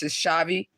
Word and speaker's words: Chhavi: She said it already. It's just Shavi. Is that how you say it?